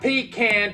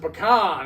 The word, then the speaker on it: pecan: So, and the one guy's like, and it's not pecan. Pecan is what truck drivers carry in their cab with them to take a piss in. And you pronounce it pecan. It's not pecan.